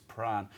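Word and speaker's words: Prahran: and speaking of names there's another strange name to promote pronounce is pran when i first got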